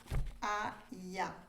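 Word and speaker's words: Hahaiah: Nous avons l'ange Aïa. Ça s'écrit H-A-H-A-I-A-H pour ceux qui aiment bien avoir l'orthographe.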